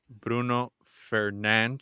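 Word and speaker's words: Bruno Fernandes: oh so we have Bruno fernan apparently that's how you pronounce it but Bruno Fernandez is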